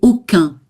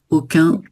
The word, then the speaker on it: aucun: Et aucun. Voilà, avec une nasale. Parfait. Aucun.